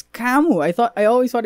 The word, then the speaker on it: Camus: philosopher what he's probably my favorite philosopher it's kamu i thought i always thought it was kemus